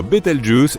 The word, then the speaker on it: Betelgeuse: supernova pour le moment quant à la manière de prononcer correctement Betelgeuse tu peux le faire comme bon te semble tu peux même dire betal juice si tu en as envie la supernova 1987A a